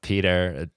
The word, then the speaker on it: Peder: to mess it up, Peder, or if you want to give me that pronunciation. I say Peter. Whenever I talk about the album, we just say Peter.